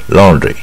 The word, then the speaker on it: laundry: laundry 它是 O 可是它卷舌 laundry 带一点点 R 的音 laundry I've got to